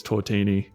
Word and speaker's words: tortini: it a c yeah I'd say cortini but runs like tortellini I say tortani as well yeah I think it's all right canonically it's tortini but it's it's spelled to a tiny yeah because it's a tiny